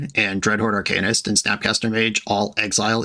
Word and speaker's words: Arcanist: to hear about it Arcanist is how you pronounce that word Arcanist sounds cooler but that's just not the word sorry folks mad